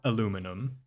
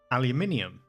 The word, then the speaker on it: aluminium: I know that Americans say aluminum, but it's not aluminum because there's an I after the N, so it's aluminium.